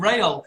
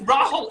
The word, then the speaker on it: Rahul: At one point, he was calling him Rail. And I was like, his name's Rahul. It's so easy.